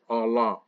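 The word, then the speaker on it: עלה: Allah, not Allah like Muslim Allah, but Allah. Just depends how you say it.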